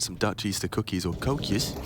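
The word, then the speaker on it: koekje: Dutch Easter cookies or Kus as they call them K okay that all right cus is that how they pronounce it yeah it's like k o e k j e c fair enough different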